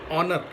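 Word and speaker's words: honour: So H is silent in this word. It is pronounced as honor.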